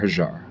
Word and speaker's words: Hagar: I also believe that Christians should start calling Hagar hajjar however the pronunciation whatever that Islamic Egyptian pronunciation is I think Christians should say that because it recognizes the etymological the phonetic history better and Hagar is an ugly word it starts with hag AR and also there's that